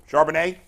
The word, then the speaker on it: Charbonnet: I thought Zach Charbonnet, how do you pronounce his last name? Charbonnet.